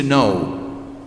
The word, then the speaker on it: know: of gnosis means to know in Greek gonosis means to know that's why in English the verb to know begins with the K that we don't pronounce because it came from